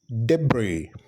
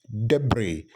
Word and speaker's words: debris: word as deis but then the word is pronounced as debris debris you know the remains of something and especially